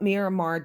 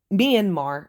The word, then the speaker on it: Myanmar: And that's what Myiramar did. Uh Myanmar, I'm sorry if I keep uh mispronouncing it.